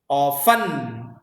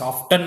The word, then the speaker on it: often: Often. You could ask me, sir, why do you pronounce often and often? Both pronunciations are correct.